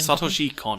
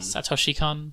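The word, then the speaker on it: Satoshi Kon: How do you pronounce his name? Sutter Chacon. Sutter Chacon.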